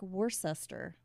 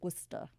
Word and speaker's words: Worcester: Now, it looks like Worcester, but it's Worcester.